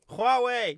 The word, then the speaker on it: Huawei: almost almost there no so this is a Huawei watch Huawei you said it right Hua watch Hua watch